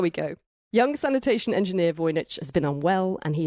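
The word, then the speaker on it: Wojnicz: early in the novel she does actually include a line that tells us how to pronounce the name of our hero felt WJ n i c z she says vich slowly and clearly pronounced his own first name and surname in the hope that the other would remember them mes voich so there we go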